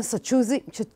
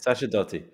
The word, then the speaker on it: Sacerdoti: נמצא איתנו כאן הכתב או העיתונאי העצמאי, קומנטייטר באנגלית, סצ'ודי. I told you I'll mispronounce it. זה בסדר, זה Sacerdoti. Sacerdoti, okay. לא חשוב.